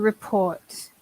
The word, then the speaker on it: report: One thing I want to talk about is report. Okay, which we would pronounce the end. To report. Which often, again, the stress comes out funny. Report. We would say a report.